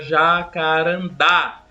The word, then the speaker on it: jacarandá: temos aí por exemplo a palavra Jacarandá Observe que esse da é pronunciado com maior força já Karam tá então esse da indica que a sílaba tônica da palavra é a última então a palavra deve